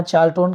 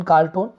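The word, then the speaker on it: Charlton: हालांकि गांव के नाम के लिए यहाँ चार्ल्टन, कार्ल्टन हम बोल सकते हैं, लेकिन सही इसका उच्चारण चार्ल्टन होगा।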